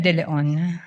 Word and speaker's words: De Leon: With the permission of Representative Chua, can you pronounce the name more distinctly, ma'am? Ano pong pangalan? De Leon.